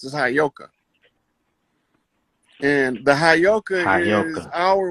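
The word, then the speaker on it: Heyoka: I was I already know I was telling you the that word is properly pronounced as hayoka and the hayoka is our way.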